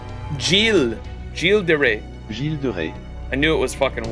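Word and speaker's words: Gilles de Rais: How do you say, because isn't the two L's supposed to be like a Y? Is it Guise de Reyes? That was terrible, wasn't it? Gilles de Rey. Gilles de Rey. Gilles de Rey.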